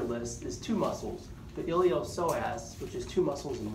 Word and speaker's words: iliopsoas: The only one on your list is two muscles, the iliopsoas, which is two muscles in one. So let's call this posterior abdominal wall. Iliopsoas. The P is silent.